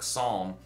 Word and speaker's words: psalm: with a silent p because we don't pronounce the greek letter psi with the p even though it's there i don't know if that's good enough for you but that's why the book psalm is spelled the way it is and what's when we